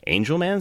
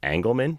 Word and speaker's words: Angelman: one was on see Angelman syndrome which I hadn't heard about before and actually did the whole segment pronouncing angleman because I'm an idiot and flying got back to me I said it's angel and they did a